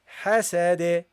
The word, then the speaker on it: حسد: Okay, and the dal, when you stop on it, you give it a bounce. So you say here, hasade. Okay, إذا حسد ومن شر حاسد إذا حسد إذا حسد. That's how you pronounce it, guys.